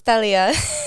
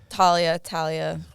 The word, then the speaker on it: Talia: So in Miami, it's Talia. Okay, yeah, because we had a girl, we had a former guest, and it's Talia as well, but it's spelled with a TH. So Talia, but I wasn't sure. My up north, Talia. Why Kind of just depends on how you speak.